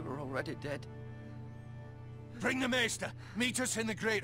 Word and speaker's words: Maester: Maester. I said that right. Yeah, I said it right.